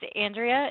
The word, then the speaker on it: Andrea: Andrea or Andrea it's Andrea it rhymes with schmandra which is the word